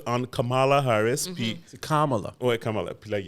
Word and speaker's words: Kamala: Puis, C'est Kamala.